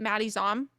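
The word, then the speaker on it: Maddie Zahm: Do you say it Maddie Zom?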